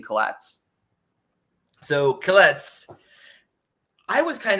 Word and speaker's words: Killetz: And I figured that would be difficult for, for the nations to pronounce, so I just used Killetz, easier. But Killetz or Helitz means restorer.